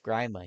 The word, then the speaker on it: Grima: it's B it's GMA no it's grima he clearly pronounces it grandma Grandma it's Grandma it's